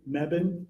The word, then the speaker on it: Mebane: Can you please tell us your full name and how you spell it for the court reporter? F- R Mebban.